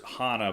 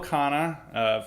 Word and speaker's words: Khanna: I'm pretty sure it's Hana, but it might be wrong. Okay, we are never going to call him Hana again. It's Ro Khanna.